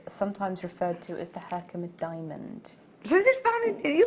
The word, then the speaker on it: Herkimer: hand I've not seen this yet how to pronounce this Herkimer Herkimer it's an industrial region in New York State